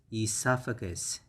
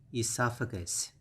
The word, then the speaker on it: esophagus: this one that's okay the pronunciation is a lot simpler than that okay so the first pronunciation is and next you have fur gas for gus so it's esophagus esophagus esophagus esophagus all right